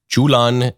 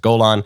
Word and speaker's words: Golan: And in Arabic, you pronounce Golan, Julan, and in the West, we pronounce it, in Hebrew and in English, we pronounce it Golan.